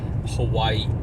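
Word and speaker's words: Hawaiʻi: Or you're supposed to pronounce Hawaii like Hawaii, because it's got that pause, it's apostrophe.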